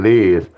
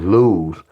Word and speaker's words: Luz: I was saying Liz, but it was Luz.